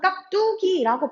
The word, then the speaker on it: 깍두기: 발음은 항상 깍두기라고 발음을 하는데 실제로는 깍두기라고 발음을 하는 게 제대로 된 발음이고요.